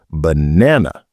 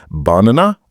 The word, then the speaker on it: banana: For example, in the word banana, the stress is on the second syllable, banana. If you say banana or banana, it can confuse people.